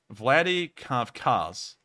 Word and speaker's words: Vladikavkaz: Now moving towards the town of, let me make sure I get this pronunciation correct, Vladikavkaz. Here in the town of Vladikavkaz, we've seen an interesting occurrence today.